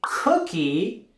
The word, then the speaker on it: cookie: in America we say cookie instead of biscuit I brought cookies cookie in Spanish s and with the word cookie we're also going to raise our intonation on that first syllable cookie cookie I brought